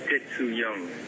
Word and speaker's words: Tetsu Young: Alors, dites-moi comment je prononce votre nom. Tetsu Young.